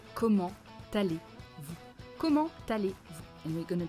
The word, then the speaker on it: comment allez-vous: Comment, silent T, but because here there is a liaison, we are going to pronounce it. Comment t'allez? Comment t'allez? Comment allez-vous?